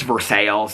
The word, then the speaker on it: Versailles: Because, like, in Indiana, we have, it's Versailles. They pronounce it Versailles, even though it's spelled just like Versailles.